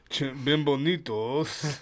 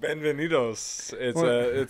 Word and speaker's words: bienvenidos: Bienvenidos. That's not how you say it. How do you say it? It's like Benvenidos. It's like a V.